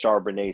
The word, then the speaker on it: Charbonnet: Charbonnet.